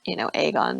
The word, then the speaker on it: Aegon: But obviously we have precedent for obviously these things being like Daemon and Aegon, not Igon or whatever.